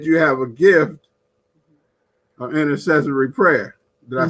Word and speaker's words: intercessory: Now, I read that you have a gift of intercessory prayer.